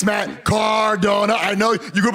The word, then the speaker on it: Matt Cardona: It's Matt Cardona. I know you grew up in a farm. You're a hillbilly. You can't pronounce it.